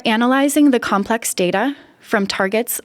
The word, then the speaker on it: TRGT: For analyzing the complex data from targets like repeat expansions, PacBio provides specialized tools. The Tandem Repeat Genotyping Tool, or TRGT, pronounced target, takes the aligned hi-fi reads as input.